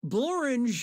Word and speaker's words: Blorange: Blorange is a real place, and it really rhymes with orange.